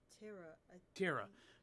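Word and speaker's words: Tera: Terra. I So think okay. that's how you pronounce it.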